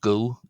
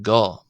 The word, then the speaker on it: go: Tama not go but go as in a short o sound not a long o but o.